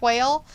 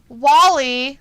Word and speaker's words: Wale: Luna says, so his name is not pronounced like whale? No, it's pronounced like Wally, like the Disney cartoon or Pixar cartoon.